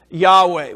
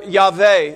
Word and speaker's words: Yahweh: It's pronounced by most of us Yahweh. We've heard it a number of times this morning. Or Yahweh, as some others pronounce it that way.